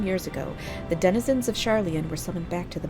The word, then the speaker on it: Sharlayan: It's not charlatan. Sharlayan.